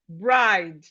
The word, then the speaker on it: bride: Then we have we have it in words like bride. We have it in words like bride. Bride. Bride. The e here is silent.